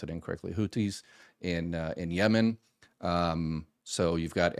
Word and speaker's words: Houthis: Iran supports Hezbollah out of Lebanon, Hamas out of the Gaza Strip, the Houthis, I always pronounce it incorrectly, Houthis in Yemen.